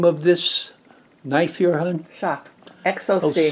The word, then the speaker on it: XOC: this knife your honey shock exoskeleton c okay crkt's xoc pronounced shock okay and this is